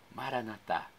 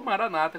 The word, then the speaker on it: Maranata: Jesus vinde meu senhor Maranata tônica na última sílaba como dizemos nós católicos ou Maranata como dizem nossos irmãos separados os evangélicos ou protestantes Maranata com a tônica na penúltima sílaba não importa pronúncia o